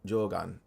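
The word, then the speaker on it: Jōgan: Jogan.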